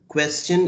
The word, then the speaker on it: question: Question is written same, but it is pronounced as la question, la question, and la réponse.